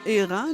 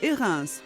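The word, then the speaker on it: Hérens: Et dans le pays, attention à la prononciation. On dit bien Érin dans le Valais suisse, mais Érins en Chartreuse.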